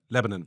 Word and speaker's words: Lebanon: It's just the do you where do you where the emphasis is at the beginning? Yeah, yeah, yeah. Lebanon.